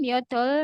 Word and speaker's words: 몇 월: 28번 몇 월 며칠입니까? bulan berapa? tanggal berapa? 28번. 몇 월 며칠입니까? Ya, 몇 월 itu dibacanya 몇월.